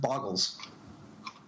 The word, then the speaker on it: Bogles: No, it's going to do other things, and it's pronounced Boggles. Okay.